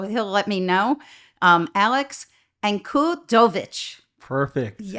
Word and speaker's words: Ankudovich: interesting guest today and I'm going to try the Slavic way to say his name so he'll let me know Alex Encudovich.